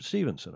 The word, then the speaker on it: Stephenson: Steph Stevenson, I think he pronounces it, spelled like Stephenson.